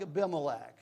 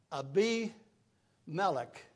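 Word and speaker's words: Abimelech: to get proper names I'm so used to calling names that are not the name it's it's like a bimac it it it it really is is uh um ABI melik and um so I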